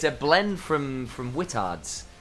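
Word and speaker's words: Whittard: company from the UK spelled w h i t t a r DS don't don't mispronounce it guys don't don't do that um there you go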